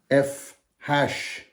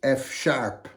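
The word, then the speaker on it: F♯: F hash is really pronounced F sharp the hash symbol and a typewriter is the closest we can get to the sharp symbol in scored sheet music so when you see G hash C Hash D hash you really need to say G sharp C sharp D sharp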